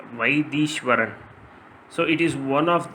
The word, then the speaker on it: Vaitheeswaran: When pronouncing in Tamil, it sounds like Vaidishwaran.